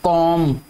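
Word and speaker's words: comb: इसके बाद एक और आपने वर्ड पढ़ा होगा कॉम, सी ओ एम, ये जो बी है इसमें ये भी साइलेंट है, ठीक है, कॉम, कॉमिंग, आप ये जो कंगी करते हैं उसको कॉमिंग बोलते हैं।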